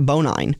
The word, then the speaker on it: Bonine: And I apologize to the Bonine family. I've been mispronouncing their name as many drivers for a long time, and I finally got it corrected this week. How do you mispronounce Bonine? Well, what did you call it, Bonin? They when I got the original driver's sheet, it was Bonnie. There was no second N.